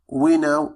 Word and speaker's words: know: فلدينا we know how ف we know فكي هو حرف silent أو صامت ولا ينطق.